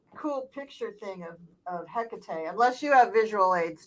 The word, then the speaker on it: Hecate: there Hecate oftentimes spelled h-e-c-a-t-e or h-e-k-a-t e um and um pronounced Hecate or Hackett there's slight variations and um she is